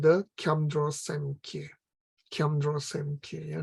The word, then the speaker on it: Kyamdro Semkye: Kyamdro Semkye. Yeah? The B is not pronounced. Instead, we insert an N here, N or M.